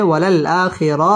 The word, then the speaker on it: وللآخرة: خير لك من الأولى ওয়াও ঠোঁট গোল করে উচ্চারণ করতে হবে ওয়ালাল আ মধ্যে বদল এক আলিফ টেনে পড়তে হবে ওয়ালাল আখিরা র পুর হবে ওয়ালাল আখিরাতু খাই জবরের